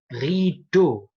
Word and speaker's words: rideau: Rideau.